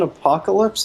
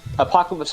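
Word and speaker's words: Apokolips: Apocalypse spelled like APOK. Apocalypse. Yeah, like with- ALIPS.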